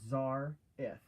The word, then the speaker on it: Xarzith: to pronounce your name like mine is Zar if z r it Zar if right I need to know